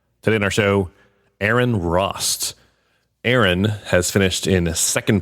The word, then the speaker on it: Rost: Because her last name is spelled R-O-S-T.